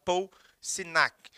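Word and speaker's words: Signac: é um cara chamado Paul Sinac. Tem um G aí, mas ele é mudo, ou Paul Sinac.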